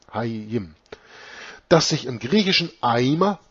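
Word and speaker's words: Hayyim: Dass Hia bei der Übernahme ins Griechische auch Haya ausgesprochen wurde, wird bewiesen durch das Substantiv Hiim, Leben, Hayim ausgesprochen, also H-A-Y-Y-I-M, Hayim.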